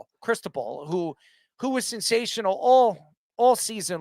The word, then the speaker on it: Cristobal: The coach, and I pronounce his name, Cristobal, who was sensational all season long.